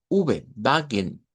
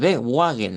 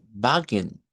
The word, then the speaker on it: Wagen: Cuando hay escrito una W, se pronuncia la V.